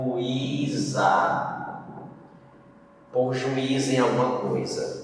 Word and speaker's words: ajuizar: Ajuizar. O zá foi mais forte. Não foi o I, então não acentua.